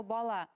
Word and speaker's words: бала: Например, мы все знаем слово бала. Бала, балалар, балаларга. Ударение переходит на последний слог.